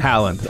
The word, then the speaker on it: Halland: Halland. Okay, yeah. I knew that. It's spelled Halland, yeah.